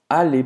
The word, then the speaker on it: aller: O que importa é que ele é pronunciado como se fosse só um.